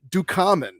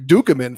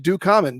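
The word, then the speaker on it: Ducommun: to michael last episode for saying rick ducamon me and eric have been saying rick dukeman for like what 41 years of our life rick the man's name is pronounced rick do comment but i gotta take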